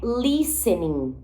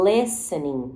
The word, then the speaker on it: listening: para o nosso listening, que não é listening, não é listening, é listening. Olha a letra I com som de E de novo.